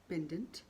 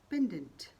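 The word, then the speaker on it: pendant: गले में चेन में पिरो कर पहनने वाला लॉकेट होता है पेंडेंट। पेंडेंट। दोस्तों, मैं यहाँ पर सिर्फ सही उच्चारण ही बता रही हूँ।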